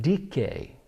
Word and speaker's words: Dike: Her name was Dike, or some pronounce it Dike.